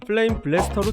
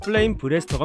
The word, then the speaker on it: 플레임 브레스터: 플레임 블레스터 간혹 이것의 이름을 플레임 블래스터로 착각하시는 분들이 있는데 플레임 브레스터가 맞습니다. 가슴을 뜻하는 브레스트에 이알이 붙은 거죠.